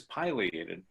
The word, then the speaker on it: pileated: the English pronunciation is pileated according to the dictionary but in Latin they're named for their crest which has been referred to as a pileus which is Latin for mushroom so if you pronounce